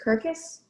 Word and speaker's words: circus: one more little note so you pronounce circus kirkus kirkus i did what's a